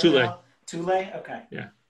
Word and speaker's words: Thule: It's not Thule or Thule or Thor or whatever. It's Thule.